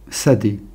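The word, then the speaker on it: שדה: un et qui est sad puisque le Chine peut se prononcer aussi ce donc là on a le mot Sadé un Chine un dalette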